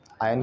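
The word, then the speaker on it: iron: तो मैं उन पर आयरन करता हूँ, आयरन नहीं, आर साइलेंट होता है, आयरन, आवाज़, उनको फिर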